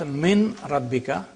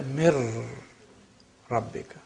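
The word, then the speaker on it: من ربك: So you don't pronounce min rabbika, you say mir rabbika.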